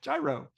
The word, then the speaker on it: gyro: Tell me again how to pronounce gyro. gyro.